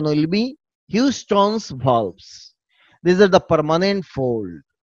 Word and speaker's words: Houston's valves: কেউ কেউ হোস্টন ভালভ বলে, কেউ হাউস্টন ভালভ বলে। So many funny pronunciations are there, but actual pronunciation will be Houston's valves.